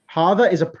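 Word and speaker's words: هذا: Hada is pronounced hada, but is written without the first alif.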